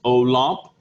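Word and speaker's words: Olympe: rights of man you have a woman named olamp say that olamp i know it looks like olymp but it's pronounced olamp de gouge and she was a french journalist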